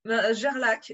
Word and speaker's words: Gerlach: C'est ça, Gerlach, effectivement, et effectivement Gerlach. Il ne faut pas rajouter de U après le G ou de E à la fin du CH, parce que ça, on me le fait tout le temps.